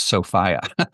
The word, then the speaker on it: Sophia: Um, and one tiny minor correction, which is the 19th century pronunciation of her name was Sopia.